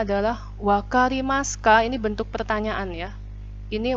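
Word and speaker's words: わかります: Wakarimas bacanya ya, u-nya hilang.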